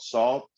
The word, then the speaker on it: SAULT: Um, Another probably one of my favorite groups right now is this group called Salt. I don't know if you heard of them. They're out of it's spelled Salt. It's SAULT. They're out of London.